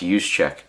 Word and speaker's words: Juszczyk: It's just, this is one of those Senior Bowl ticket things, and that is Kyle Juszczyk. Let's see, there's his name right there. It's pronounced Juszczyk.